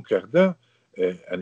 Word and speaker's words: Cardin: Le nom Cardin, en italien, se prononce Cardine. C'est un nom typique de la Vénétie, comme Manine. On appelle Manin en France, mais c'est Manine.